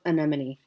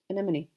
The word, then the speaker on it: anemone: anemon I listened I did like how to pronounce it online and I practice and practice we're just going to go with anemon anemone and I'm going to say it fast and